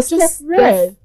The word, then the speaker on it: StephREDD: It's not hard. Oh, StephREDD. that's all.